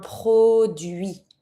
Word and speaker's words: produit: A product, un produit. And don't pronounce the T.